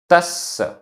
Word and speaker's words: तस्स: तस्स, आधा सा पूरा सा, तस्स। दूरथस्स, आधा ता था, आधा सा पूरा सा, दूरथस्स दूरथस्स।